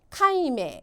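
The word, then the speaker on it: 解明: 발음은 카임메 카임메 한자로는 해명입니다.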